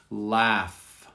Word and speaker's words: laugh: Laugh. Laugh. And notice the GH produces sometimes the F sound.